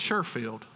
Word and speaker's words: Sheffield: northwest in sheffield alabama or if you're from sheffield it's sherfield there's a lot of